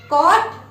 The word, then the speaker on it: caught: Caught. GH is silent.